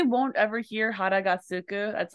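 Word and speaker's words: 空く: So this, another, so when that kanji right there means empty and it's a verb, it's pronounced as suku.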